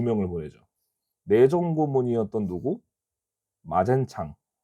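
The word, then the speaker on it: 馬建常: 마젠창. 한국 발음으로 마건상이고요. 그리고 외교고 고문은 특이하게 독일인을 보낸다고 했습니다.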